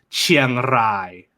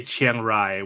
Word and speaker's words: Chiang Rai: spanish some spanish speaker some spanish words also have that rolled r so officially it's chiang rai yes if you can't roll your r's it's okay to just say chiang rai when you're in when